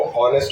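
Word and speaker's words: honest: पहला exceptional case जिसमें बच्चे बहुत ज्यादा गलतियां करते हैं वो ऑनेस्ट वर्ड है। तो ऑनेस्ट के आगे क्या लगेगा? एन लगेगा। क्यों? एच साइलेंट है।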